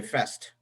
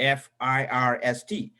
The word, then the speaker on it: first: There is a letter R in the F-I-R-S-T. First is pronounced as first, not fest. People say fest, and they leave the R out there. R should be pronounced. It's not silent in first.